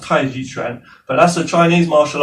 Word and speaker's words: Tai Chi Chuan: In Mandarin Chinese, it's pronounced Tai Chi Chuan, but that's a Chinese martial art where we